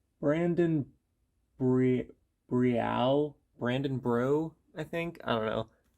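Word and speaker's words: Breaux: Brandon Bri- Brial, Brandon Brew, I think. I don't know. I think I've heard it pronounced Brandon Brew.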